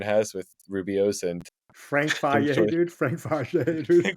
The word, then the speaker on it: Fage: Or it's actually Faye. My bad. I actually didn't nail the pronunciation.